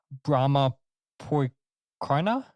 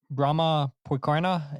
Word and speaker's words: Brommapojkarna: let's see if I can get this right, Brommapojkarna, I believe that's how you say it, Brommapojkarna in Stockholm, in Sweden.